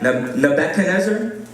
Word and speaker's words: Nebuchadnezzar: So there was this king, and this king, I ask Ashley this all the time, how do I pronounce his name? And I got Nebuchadnezzar.